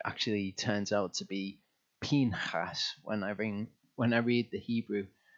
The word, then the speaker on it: Pinchas: So Torah portion Pinchas, and that is how to pronounce it. I've been saying Pinchas.